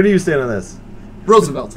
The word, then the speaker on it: Roosevelt: yeah yeah no okay it's not Roosevelt I understand that it's spelled rule but the man's name was pronounced Roosevelt and if everybody heard any kind of speech where they go ladies and gentlemen president United States Teddy Roosevelt they don't